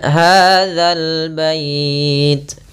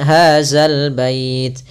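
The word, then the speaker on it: هذا البيت: Kemudian hadzal bait. Hati-hati dalam pelafalan za, jangan sampai dibaca dengan hazal bait. Sering terjadi kita mendengarkan huruf zal diganti dengan zai. Ini kurang tepat dan bahkan bisa merubah maknanya.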